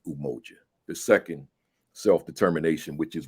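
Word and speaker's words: Umoja: Saba the first one Unity which is pronounced in kiswahili umoji the second self-determination which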